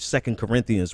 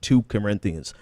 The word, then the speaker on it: 2 Corinthians: is I mean he'll he didn't even know what second Corinthians was he pronounced it 2 Corinthians so I mean they